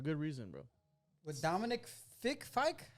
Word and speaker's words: Fike: with Dominic Fike.